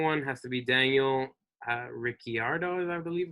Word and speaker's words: Ricciardo: The second one has to be Daniel Ricciardo, is I believe how you pronounce his name.